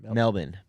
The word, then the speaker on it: Melbourne: Can you say that again? Melbourne. That's how they pronounce it, just so you know.